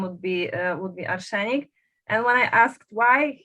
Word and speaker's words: Arshenic: The band is called Ashani.